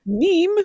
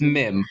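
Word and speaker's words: Mîm: How do you pronounce his name? I've heard both. Meme. So it's Mim.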